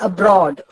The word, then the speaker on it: abroad: അതേപോലെ തന്നെ അബ്രോഡ്, എന്നതിന് അത്ര ഉച്ചാരണമില്ല, ബ്രോഡിനാണ് ഉച്ചാരണം.